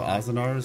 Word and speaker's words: Azanarix: Azanars, I think. Azanarix. The X is at the end, so it's kind of hard. So Azanars, I'm thinking maybe the X is silent.